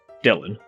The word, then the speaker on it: Dilhorne: If we carried on in this direction, we'd be heading out of the city towards Fosbrook, Dillon and Cheadle. Fosbrook refers to Forsbrook, and Dillon as Dillon.